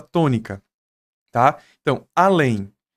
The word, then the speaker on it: além: Então, além é mais forte a ou é mais forte lém?